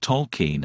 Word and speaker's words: Tolkien: lovelessness it is pronounced Tolkien as if it was spelled with two e's I am retired the retiring age in Oxford now is 66.